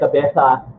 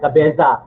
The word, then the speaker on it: cabeza: Ang tawag sa kanilang panahon na yan sa Spain ay cabeza de barangay. Cabeza ang pag-pronounce ng iba, pero dahil ang Z ay pronouncing T in Spanish, it's cabeza de barangay.